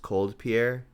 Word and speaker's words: COLDPIER: very recently this player i believe it's pronounced cold pierre um top aided a